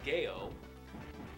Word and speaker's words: GEO: game retailers in Japan as a place called Gail it spelled geo but they pronounce it Gail from whatever reason and Jo